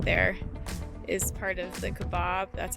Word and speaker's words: Kaibab: little point right there is part of the Kaibab. That's how I pronounce it, the Kaibab Trail.